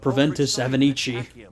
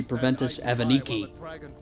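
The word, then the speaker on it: Proventus Avenicci: here preventus avenichi no if you're speaking Latin it would be preventus evaniki but I'm pronouncing it how the Italians would here or less since that's how most of us would say a name like that but in Latin excuse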